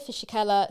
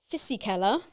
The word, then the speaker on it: Fisichella: And Giancarlo Fisichella started 8th, having 2 bad rounds at the start of the season.